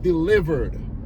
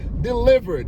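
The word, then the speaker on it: Dlivrd: say, let me rephrase, is an app called Delivered. Delivered. You could see it's spelled weird.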